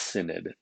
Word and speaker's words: synod: it with something called a holy synod that's pronounced synod uh and that's sort of like a council